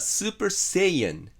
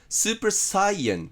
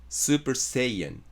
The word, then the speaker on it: Saiyan: AUミー似たような例で面白いのがドラゴンボールのスーパーサイヤ人は英語ではスーパーセイアンなんです。スーパーサイエンじゃなくてセイエンです。スーパーセイエン。